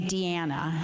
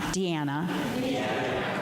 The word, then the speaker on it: Diana: And we in the for the sake of the song we pronounce Diana's name Deanna. Deanna.